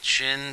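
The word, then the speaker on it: Qin: China um spe specifically chin China the Chin Dynasty um q i n uh we pronounce it chin so the Chin Dynasty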